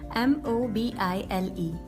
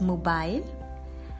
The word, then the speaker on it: mobile: M-O-B-I-L-E. How do you pronounce it? So in British English we pronounce it as mobile, and in American English we pronounce it as mobile. Mobile, mobile, mobile.